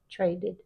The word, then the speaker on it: traded: trading traded traded dead because the D next to a d we can't tell the difference so we have to say the E traded that's regular verbs a